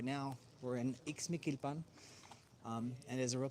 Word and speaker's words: Ixmiquilpan: But right now, we're in Mikilpan. Um and is a real place. The name is hard to pronounce, but it's real. It's called Mikilpan in the state of Idalgo.